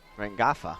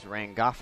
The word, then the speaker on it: Rangafa: Kayla Rangawa will bat. Rangafa, I should say. It is Rangafa. I went down there and asked a couple of the names. She's not as familiar with how to say them. So it is Kayla Rangafa, and she is from Wellington, New Zealand.